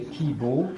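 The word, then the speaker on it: 希望: Et kibo, c'est la prononciation chinoise des deux idéogrammes.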